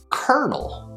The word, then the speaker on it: kernel: It's pronounced kernel, kernel. Yeah, you heard it right. It's the same exact sound as the word kernel. Like a popcorn kernel.